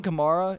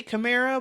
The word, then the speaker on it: Kamara: going to get because alvin kamara is a camaro kamara because he got mad about this a couple weeks ago with someone else mispronouncing it i always say camara but see how it's going gemara allen k the